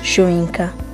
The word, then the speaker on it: Soyinka: Akinwande Oluwole Soyinka, pronounced Soyinka, born 13 July 1934, is a Nigerian playwright and poet.